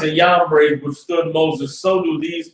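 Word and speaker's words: Jambres: Just so y'all know, I pronounce Giannis and Yambres that way because the letter J didn't exist before 1611. So where you see the J, it's a Y.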